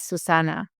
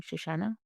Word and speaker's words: Susanna: And my name is Susana. So I pronounced my name Shashana.